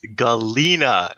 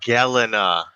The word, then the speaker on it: Galena: oh yeah, it is pronounced Galena, not Galena.